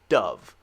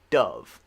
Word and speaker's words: dove: this one does not this one is like a short u sound dove dove okay this one is